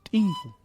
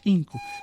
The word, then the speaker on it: tinku: Primero hay que empezar aclarando, en las ciudades nosotros solemos decir muchas veces tinku, ¿no? Le hacemos, como dicen los lingüistas, glotalizamos la pronunciación, tinku. Sin embargo, no es así, ¿no? La forma correcta de pronunciar es tinku.